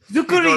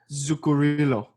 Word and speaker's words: Zuccarello: He's Zuccarino. Norwegian. He's from Norway. Oh, Norway. Not Italian. Damn. Mats. I don't know how to do a Norwegian accent. Zuccarello.